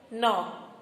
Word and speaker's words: knock: So we know some silent letter words with letter K. Is it children? Knife, knock, no, night.